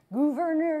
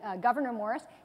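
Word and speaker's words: Gouverneur Morris: except his name looks like it would be pronounced governor you're like that but it's actually governor Morris he had lost his leg he had part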